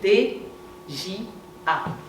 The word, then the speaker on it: Dja: Ça s'écrit D-J-A. Dja. 3 lettres.